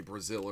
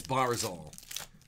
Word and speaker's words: Barzal: Barzal. Did I say Brazil earlier? I did say Brazil earlier. It's Barzal.